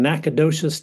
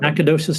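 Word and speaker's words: Nacogdoches: Austin State University in Nacadocious, Texas. Am I pronouncing that right, Matt? Yes, you are. Yep. Nacadocious, Texas.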